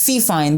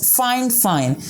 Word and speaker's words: FiFine: brand and you might read the you know brand name as fine but it's not fine it's fine fine so most of the